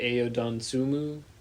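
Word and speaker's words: Ayo Dosunmu: Um, I like the pickup and I think you say AOD Donsumu is how you say his name.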